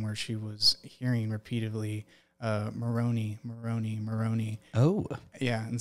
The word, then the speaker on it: Moroni: couple of times, but there's a prophet in our sacred scripture called Moroni, but I've heard it pronounced in certain cultures Moroni.